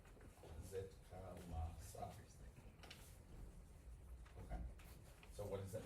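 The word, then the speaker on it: Zitkála-Šá: And this is how you pronounce her name. Zitkalasa.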